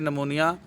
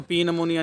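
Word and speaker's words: pneumonia: में तो double निमोनिया इसको पी निमोनिया नहीं पढ़ना इसको निमोनिया पढ़ना पी इसमें साइलेंट है जेनिटो यूरिनरी इंफेक्शन यानी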